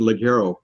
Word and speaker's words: Ligero: The Honduran Ligero, and it's produced to Ligero, like the G is silent.